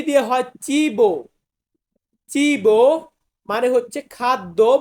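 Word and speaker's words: cibo: বেল্লিসিমো এরপর আছে চি চি চি দিয়ে হয় চিবো চিবো মানে হচ্ছে খাদ্য বা খাবার খাদ্য বা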